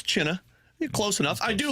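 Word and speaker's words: Chinakhov: Chinikov. You did China. It's China.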